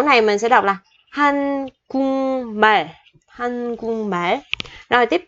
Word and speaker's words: 한국말: Thì chữ kiok này khi đọc mình sẽ chuyển thành chữ ngờ. Chỗ này mình sẽ đọc là hanh cung bể, hanh cung bể.